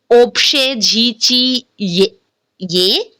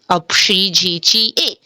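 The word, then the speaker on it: общежитие: And why instead of pronouncing Opshejichi ye, we are pronouncing Apshijichi e. So there are three rules. Let me remind you. O is unstressed. Rule number 1. So we are pronouncing A.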